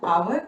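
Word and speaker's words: hour: इसकी pronunciation आवर, आर नहीं बोलेंगे।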